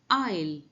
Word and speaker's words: aisle: आइल, पहला वाला आइल समझते हैं। AISLE, इसका प्रोनाउंसिएशन होता है आइल, विच मीन्स गलियारा।